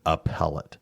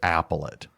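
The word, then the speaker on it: appellate: You know like well the one was one they would always mispronounced was appellet. They always pronounced it applet and you know but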